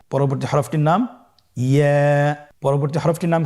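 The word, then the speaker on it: ياء: পরবর্তী হরফটির নাম হল ইয়া পরবর্তী হরফটির নাম ইয়া পরবর্তী হরফটির নাম কি ইয়া ইয়া হরফটি উচ্চারণের ক্ষেত্রে বারিক হবে এবং এক আলিফ টেনে পড়তে হবেইয়া আবার বলুন ইয়া ইয়ার মাখরাজ কোন জায়গা থেকে উচ্চারিত হয়?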